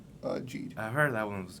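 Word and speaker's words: Geed: How's it what pronounced? Is Ginga it was. Geet or Jeed? Jeed.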